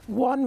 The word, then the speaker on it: one: case not don't okay one versus one I won a game versus one now the simple word one is there's no Phonics that could explain that word the number one you're